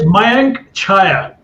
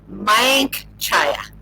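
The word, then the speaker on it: Mayank Chhaya: Okay, no, it's Mayank Chaya. Mayank Chaya. Very good. Mayank Chaya.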